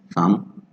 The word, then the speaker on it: thumb: Some of those consonants that don't sound when you pronounce it, like silent B, for example, bomb, dumb, climb, okay, calm, limb, thumb, they don't sound like